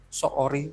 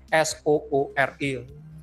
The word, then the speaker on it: Soori: Saya ngambil yang di Bali, gambarnya nggak banyak, justru ketika bongkar websitenya Soori, bacanya gimana sih? S-O-O-R-I. Kalau baca singkat kan Soori.